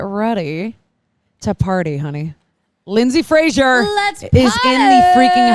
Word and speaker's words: Fraser: How do you say your last name, by the way? Frazier.